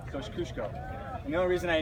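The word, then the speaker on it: Kosciuszko: because he's polish and not a lot of people could say his name Kos kushko right Kos kushko and the only reason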